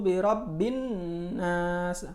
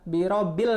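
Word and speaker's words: بِرَبِّ النَّاسِ: magmaka membacanya cool a'udzu birabbinnas horor birobinas ada alif lam di sini coba Ustad perbesar ya Hai nah Hai ada alif lam disini dan setelahnya huruf nun Jadi bukan birobbil nashya birobinas salah karena ada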